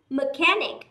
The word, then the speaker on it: mechanic: Mechanic cũng là k. Mechanic, mechanic. Một số bạn đọc là mechanic, đúng không? Mechanic nghe như tay cái gì? Titanic.